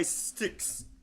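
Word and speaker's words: Styx: And the correct answer is Renegade by Sticks. That's probably not how you pronounce it. No, it is how you pronounce it. It is. Yes, it is sticks.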